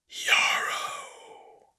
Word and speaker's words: Yarrow: Yarrow, it answered. Rhymes with sorrow.